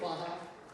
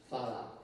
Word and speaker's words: Farah: I've always told I should not say Farha. What should I say? Farha. I could never pronounce my R's as a child. I had buck tooth and I was always accused for rabbit and therefore probably that put in the R.